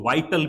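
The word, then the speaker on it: vital: सेंसल यानी आवश्यक जिसको वाइटल भी कहते हैं अब इसको कई विटल बोलते हैं विटल नहीं वाइटल वाइटल ठीक है सेंसल आवश्यक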